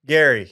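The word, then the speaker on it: Gerry: one episode Gary sorry Gary it's spelled g e r r y yeah it's very confusing Double R too but it's Gary okay yeah yeah I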